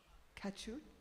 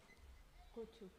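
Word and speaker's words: কচু: The two cowherd boys, Jambula and Rasala, then bring Krishna pan made with betel nuts, fancy spices, and kachu. How do you say that? Kochu.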